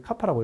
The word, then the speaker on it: 카파: 우리가 여기 있는 것처럼 이게 이제 카파인데 이제 우리 카파라고 읽어야 되는데 이제 카파라고 이렇게 어떤